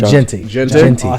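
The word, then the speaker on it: Jeanty: Personally, I would go with Travis Hunter, and the both biggest reason is both sides because Deontay, how do you pronounce it? Gente.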